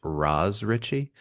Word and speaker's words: Ross Richie: Um, it was started by Ross Richie. Although I've seen it said that it's supposed to be pronounced Raz Richie and Andrew Cosby u both of whom worked